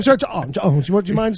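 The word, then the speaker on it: J'onn J'onzz: John Jones. John Jones. Yeah. It's like it's a little softer than John. That's what I was going to say. Because you're definitely doing a je with your J.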